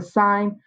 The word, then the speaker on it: sine: sine cosine and tangent the abbreviation is sin cos and tan but we don't ever say it like that we say the sine of theta the cosine of theta